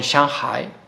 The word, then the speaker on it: Shanghai: continental me quedo con Shanghai Así es como se pronuncia en chino y bueno es una